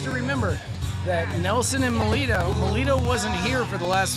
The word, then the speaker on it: Melito: Melito. Melito. Melito. Melito. M-E-L-I-T-O. Melito.